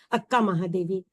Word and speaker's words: अक्का महादेवी: कहते थे तो इसलिए शायद कन्नड़ में आ की मात्रा का लिखी नहीं जाती उच्चारण किया जाता है ना तो इसलिए लिखा जाता है शायद अक कन्नड़ में लेकिन उसको हम बोलते हैं उच्चारण करते हैं अक्का महादेवी तो आज हम लोग